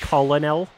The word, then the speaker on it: Colonel: I believe it's pronounced Colonel.